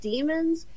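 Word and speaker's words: daemon: to separate children from as pronounced demons or demons it in the shows and everything they pronounce it demons but I have absolutely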